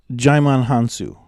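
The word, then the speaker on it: Djimon Hounsou: give a little credit to that with um jaimon hansu all right that's how you say his name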